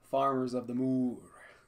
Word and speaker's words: Farmers of the Moor: expansion it is agricola farmers of the moor that's how you pronounce it oh is it yeah so you have to sound like a cow it is farming so